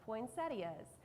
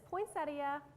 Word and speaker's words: poinsettia: two correct pronunciations of poinsettias it is poinsettia but also the non-standard pronunciation of poinsettia which is well accepted in the south of course so today